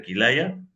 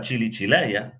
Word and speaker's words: Kilaya: la práctica de este mantra de kilaya Pero él lo pronunciaba chili Chila y como chili Chila